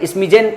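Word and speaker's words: smidgen: और इसमें दूसरे वाले में डी साइलेंट है, स्मिजेन पढ़ोगे।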